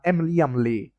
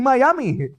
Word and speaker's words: MmIiAaMmIi: forgotten nerds with poxy pandy, x8641, xit, and mammly. Wait, I've been pronouncing that wrong. It's actually Miami. All right. How How haven't I noticed that? But their name is actually pronounced Miami, so I I've been saying it wrong all the time.